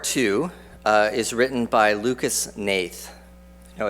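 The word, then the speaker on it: Hnath: is written by Lucas Nathe you know it doesn't look like Nathe but that's how his name is spelled and how his name is pronounced this is a production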